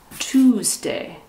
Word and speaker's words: Tuesday: what is this tuesday tuesday remember t-u-e sounds like the number two tuesday do you go